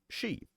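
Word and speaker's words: Sidhe: I, the she, Sarah Ryan said, pronouncing it she.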